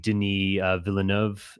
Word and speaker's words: Denis Villeneuve: And I think Denis Villeneuve, would that be the right way to pronounce his name? Denis Villeneuve, he's French, yes.